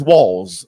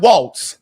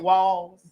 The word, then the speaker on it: Walz: And before I go into some of the things that he's done, his name is Walz, okay? It is not Waltz. Like Walls, like in here. Right. And in here. It's pronounced like Walls.